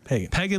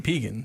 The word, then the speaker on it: Pegan: would call him Brady Peagan. Brandon Brandon. Braden Peagan by the way. Peagan like Megan. Yeah, Braden Peagan. I've been saying Pagan so Yeah, me too.